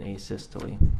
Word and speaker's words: asystole: and have you explained to the jury uh a systole i think is called um am i pronouncing that right by the way asystole yeah